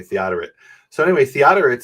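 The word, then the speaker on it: Theodoret: called church fathers and he says no that's theoret. I always called him Theodorit because I don't know how it's pronounced um at least in English they say theoret.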